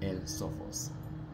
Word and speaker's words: El Sophos: El Sophos.